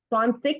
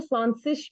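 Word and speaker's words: zwanzig: स्वानसिक भी कहा जाता है, स्वानसिश भी कहा जाता है, स्वानसिश, दोनों तरीके से बोला जाता है इसको।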